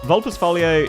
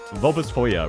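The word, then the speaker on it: Vulpisfoglia: Um, Vupus, Vulpus Falier is not amazing. Vulpus Foyer, rather, sorry, I keep mispronouncing it.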